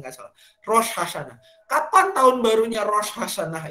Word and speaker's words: Rosh Hashanah: Pengucapannya nggak salah. Rosh Hashanah.